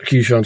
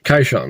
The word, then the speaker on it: Kishon: Gentiles unto the river Kishon. Not Kishon, sorry, Kishon, that's how it should be pronounced.